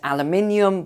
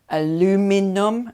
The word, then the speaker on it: aluminium: The main one here is aluminium that is in short supply, or before the Americans correct me, aluminum as Americans pronounce it.